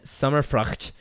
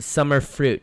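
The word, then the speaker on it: Summerfrucht: from our friend Erin summer frock who says it's pronounced summer fruit for future reference okay so now we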